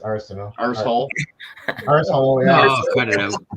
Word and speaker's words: Arsenault: How do you pronounce that in PEI? It's just Arsenal.